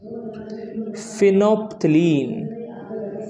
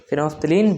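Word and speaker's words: phenolphthalein: और दूसरा आदमी होता है फिनोप्थलीन। एल साइलेंट होता है इसमें।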